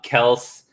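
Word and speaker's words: Kelce: just kept him um kels um as he likes to pronounce it is uh the guy you gotta trade you can't cut you can't cut travis kelsey man you gotta trade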